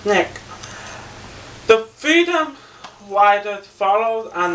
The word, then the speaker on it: SNCC: Nonviolent C engaging Community which is Snick uh SNCC with pronounced Snick the freedom wiers follows